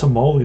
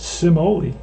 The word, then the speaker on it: Simoli: I think it's Simoli, like semolina. MLB stats. Just going to do a quick check. And we're going to see how to pronounce his name. I'm sure that's the name that they'll have. They'll explain how to pronounce. And they do. It's Simoli. Simoli.